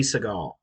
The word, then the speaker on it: Sagal: Katie Sagal. How do you spell it?